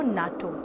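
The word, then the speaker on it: NATO: बोलते हो FBI, CBI, लेकिन इनको UNESCO नहीं बोलते हो, आप इसको कहते हो यूनेस्को और इसको कहते हो नाटो।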